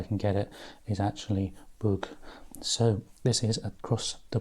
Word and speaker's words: Bug: at the moment and really it's more of an ooh sound so the pronunciation or as correct as i can get it is actually bug so this is across